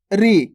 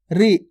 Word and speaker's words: ऋ: है ऋ अब दोस्तों इसका उच्चारण इसी प्रकार से कि जाता है ऋ यानी कि ऋतिक किसी का नाम होता है ना ऋतिक ऋषभ ऋ बस इसी प्रकार से आपको याद करना इसको ऋ उसके बाद आता